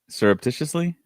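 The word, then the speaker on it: surreptitiously: Serreptitiously.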